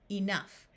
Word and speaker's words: enough: the sound of f in these words the o u will have a short u sound so we have rough Tough Enough in this word we